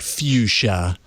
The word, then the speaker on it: Fuchsia: You got to put the CH Fuchsia. before the S.